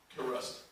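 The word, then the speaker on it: Kairos: There's a word in the Bible it's spelled K-A-I-R-O-S. Karust.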